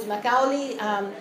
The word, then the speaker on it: Macaulay: In a Scottish context, this name becomes MacAuli. They end up not pronouncing the double F that we pronounce.